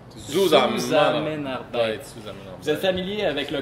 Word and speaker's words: Zusammenarbeit: Et on prononce Zusammenarbeit. Zusammenarbeit.